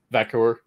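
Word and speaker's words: Vaquer: Vakor? Yeah, Vakor.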